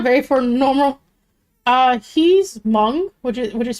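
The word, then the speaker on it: Hmong: honest it's not very for normal uh he's M which is which is spelled h m o n g um kind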